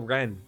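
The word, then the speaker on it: Renne: Oh, see, I think I finally understand how to say her name. It's all Ren. Her name's Ren, not Rennie.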